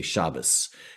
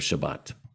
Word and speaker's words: Shabbat: people say harusa or because that's the ashkenazi pronunciation just like they say shabbos instead of shabbat so we opened with